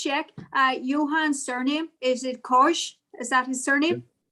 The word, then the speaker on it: Koch: Johan's surname, is it Koch? Is that his surname? My name is Koche. You pronounce it Koche, but it's difficult.